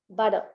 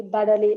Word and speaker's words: butter: In British accent, it is butter, butter. Okay, but in American accent, the T becomes softer D, butter. Okay, utterly, butterly, like that.